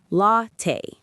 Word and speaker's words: latte: Many students say it like an Italian word, but in English cafes, we say latte.